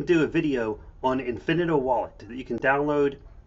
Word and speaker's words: Infinito: I pronounce it Infinito.